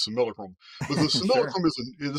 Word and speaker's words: simulacrum: on a neutral field this similacrum actually you pronounce the word correctly I'm just so used and I'm stuck into my Southern Texas ways I'm going to continue to pronounce it as similar Chrome but the scenarium is